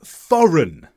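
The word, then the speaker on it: foreign: it should have been forign the G should have been silent and I should have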